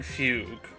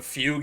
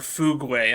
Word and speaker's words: Fugue: not know what a fugue is, let alone know how to pronounce it? Because I remember when people when the drip feed for Fugue came out and everyone was calling her Fugway and like it my